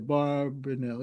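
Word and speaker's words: Abarbanel: the the orb barnel the the yeah the barrenell yes that's how you say it was the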